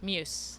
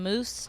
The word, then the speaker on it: Meuse: Is it Meuse or Muse? Muse. Muse. So Yes. I've been saying it right. I maybe got into a bar fight with somebody about this. Hey, at least you're not saying moose or mouse Oh. or meese.